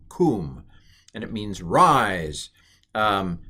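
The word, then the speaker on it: קוּם: sound this is pronounced kum kum and it means rise um but anyway this what is it called drum roll please it's a sharook and it's an oo sound um and it's a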